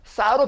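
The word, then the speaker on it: ça: 딸을 발음하고 싶지 않고 싸러 발음하고 싶다가 아니라 이렇게 발음을 바꾸고자 할 때에는 여기에다가 이런 표시를 해줘요 그럼 발음이 바꿔져요 그래서 이렇게 읽으면은 이거는 까가 아니라 싸가 돼요 그래서 싸 그 다음에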